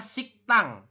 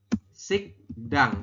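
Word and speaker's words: 식당: aturan baca nomor 12 Anda membacanya bukan sikdang Oke dibacanya Bukan sikdang tapi sik tang Kenapa kok jadi siktang sem Ya seperti ini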